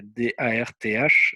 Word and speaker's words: Darth: Alors Darth, c'est D-A-R-T-H, c'est un clin d'œil à Star Wars, puisqu'en français on dit Dark Vador par exemple. En anglais ils disent pas Dark, ils disent Darth, TH à la fin.